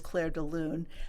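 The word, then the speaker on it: Clair de Lune: I think it's uh Claire Deal Luna. Well, whatever. I know it is. Claire DeLoon.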